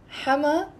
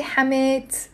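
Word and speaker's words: حماة: You can say أحلى حما Thank you, everyone. I'm gonna respond later on. You can say أحلى حما بالدنيا. أحلى حما بالدنيا. Notice I didn't say حمات. Not pronouncing the تيم مربوطة there.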